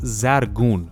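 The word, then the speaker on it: زرگون: Zircon is an old Persian word that's pronounced zargun, which means gold-like.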